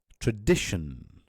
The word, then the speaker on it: tradition: Tradition. Tradition. It's not tradition or tradition. It's tradition. Shin. So it's a very, very short sound.